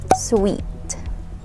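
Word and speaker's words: suite: e at the end the one that has e at the end is pronounced as sweet sweet say it okay so it sounds like um a sweet food that you eat like dessert like that sweet yes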